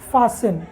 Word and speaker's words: fasten: उसी तरह से FASTEN, फासन, है ना, क्या पढ़े, इसको फासन पढ़ रहे हैं।